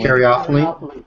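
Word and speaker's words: caryophyllene: was reading about the beta how do you pronounce this one guys? Karaophene karaophylene.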